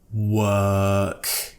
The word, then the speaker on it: work: and release a sound take a deep breath work there's no or don't pronounce the our next one have you ever